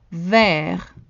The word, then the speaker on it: vert: Vert. Vert. The T is silent in the masculine form.